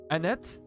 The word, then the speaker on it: Annette: lieutenant Penrose popped up don't pronounce the second e and end it Annette so is it Annette